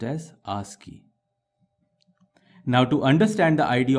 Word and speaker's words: ASCII: This ASCII, which stands for American Standard Code for Information Interchange, is pronounced as ASCII.